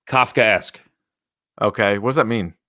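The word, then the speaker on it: Kafkaesque: How do you pronounce episode 9? Kafka-esque.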